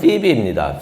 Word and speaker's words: 피비: 솔직히 베베라고 하면은 이름이 생소한데 영어 발음으로 되는 그 이름을 들으면 아마 그 사람이구나 하는 걸 알 수가 있을 거예요. 영어 이름은 피비입니다.